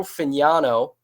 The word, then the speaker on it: Fignano: Joe Fignano, which we found out is the correct way to pronounce his last name.